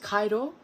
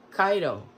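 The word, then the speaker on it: Kairo: kiriyoshi kurosawa film here is pulse and it's pronounced kaido kaido kaido here's the back let's see this was in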